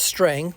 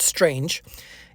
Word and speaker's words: Strang: of james strang so this is pronounced strang not strange and not to be